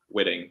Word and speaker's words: Whiting: Whiting. Yeah, it's kind of weird. It's the CK silent, but it's Belgian. Yeah. I'll stick with Whiting.